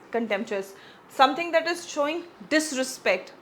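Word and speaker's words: contentious: कंटेंट यहां पे अ टी है लेकिन हम इसको कंटेंचस प्रोनाउंस करेंगे।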